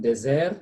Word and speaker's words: dessert: This is A, not A. Dessert. T silent. So you say dessert. Dessert. Yeah. Dessert. So soup falls under? Soup is a dessert. Yes. Dessert. Yeah, soup is a dessert.